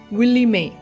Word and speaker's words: Willie Mae: இந்த ரோஸோட பேர் வந்து வில்லி மே, WILLIEMAE, மே அப்படின்னு சொல்லுவோம்ல, அப்படி தான் ப்ரொனவுன்ஸ் பண்ணணும்.